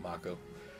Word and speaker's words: Mako: this don't I uh I guess Mao is probably be the correct pronunciation it is kind of Japanese sounding I always used to pronounce it moo I'll go with Mako the planet is full